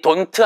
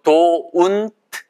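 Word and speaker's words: don't: 거예요 됐구요 자 그래서 itu 발음이 돈트 아니고 또 운 이 거에요 i 쫀 2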